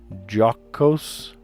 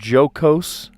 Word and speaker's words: jocose: Jocose. Jocose. Jocose? Not jocose. Jocose? Not how I would think to pronounce it, but okay.